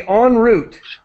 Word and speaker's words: en route: And so we say en route is how we pronounce it. But it's obviously it comes from French.